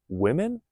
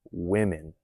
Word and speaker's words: women: The pronunciation of women versus a woman. Notice a woman or women. Pay attention to those differences.